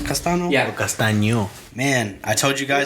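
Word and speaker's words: Castaño: Castano?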